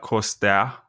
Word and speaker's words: Costea: I guess that's kind of long, but my name is Costea. That's how you pronounce it, but Costea or whatever, however you Westerners say it, I don't care.